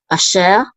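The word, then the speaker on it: אֲשֶׁר: And then we have a shin with a sigol, which is she, and the resh closes the syllable out, so we say sher, asher, and this means who, that, or which.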